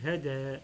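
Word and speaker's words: هدى: Et ce se lit hada, ça ne change pas en prononciation.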